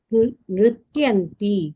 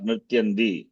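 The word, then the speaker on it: नृत्यन्ति: mayuraha nrityanti kim Nrityanti, not Nrityandi. Huh? Huh? Nrityanti, not Nrityandi. Tamil influence of Nrityandi.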